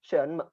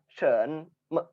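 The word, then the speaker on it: 什么: Yang ini shen me. Shen-nya ini ada 2, shen me. Nah, atau me kita artikan sama kepalan tangan ya, artinya kita pendek bacanya.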